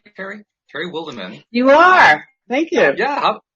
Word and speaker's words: Terry Wildemann: Am I pronouncing your name, Terry? Terry Wildemann.